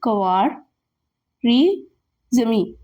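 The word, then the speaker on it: al-Khwarizmi: मूसा अल cover जमी इसको pronounce इस तरह करना है कवार ये कवार री जमीन ठीक है ये चार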